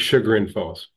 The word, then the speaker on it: Chagrin Falls: Because is it Chagrin Falls or is it Chagrin Falls? It's Chagrin Falls.